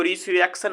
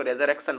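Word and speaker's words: resurrection: लिख दिया ठीक है इसको रिसरेक्शन मत पढ़िए इसको रेजर क्शन पढ़िए देखिए अगला जो वर्ड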